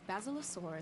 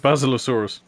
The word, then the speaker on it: Basilosaurus: of in the waters surrounding the island is basilosaurus oh she pronounced it basilosaurus it's a powerful swimmer which is adapted to